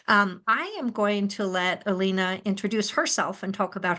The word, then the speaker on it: Alina: And is that the pronunciation, Alina?